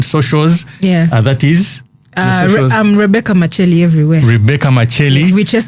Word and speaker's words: Makyeli: Is that how they say it, Makyeli? Yes, Makyeli.